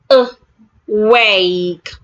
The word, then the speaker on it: awake: Awake. Are you awake? Awake. The letter A, the first letter A in the word awake, make sure that you're articulating it as a weak sound.